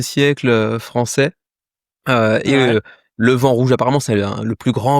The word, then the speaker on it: Le Vent Rouge: Et du coup, on va parler de d'un jeu avec un titre français mais qu'on se doit prononcer avec un accent anglais parce que le projet est porté par des anglophones. Alors, ça s'appelle le vent rouge, hein.